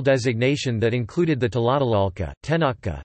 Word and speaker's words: Tenochca: that included the Tlatelolco, Tenochca, Nahuatl pronunciation, Te-Not-Ca, referring only to the